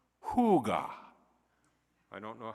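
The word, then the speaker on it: hygge: contentment and well-being and it's pronounced yeah it's pronounced Huga I don't know how they get that from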